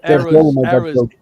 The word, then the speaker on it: era: Because you say error, which means mistake to us. Yeah. And, That's so funny. Eras.